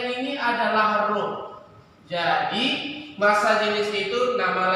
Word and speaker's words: rho: Bacanya ini adalah rho.